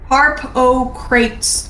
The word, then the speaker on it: Harpocrates: No, Harpocrates, like crates, Like crepes as in the food crepes? No, crates. Crate? Crates. Like as in the crate.